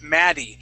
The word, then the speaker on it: Maddie: okay um and okay so let's practice I want to practice your D sounds okay so so for example um we have the name Maddie and and I can I can tell you are trying to use that D sound in saying mad okay the uh the difference